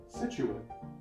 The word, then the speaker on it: Situate: It is pronounced Situate.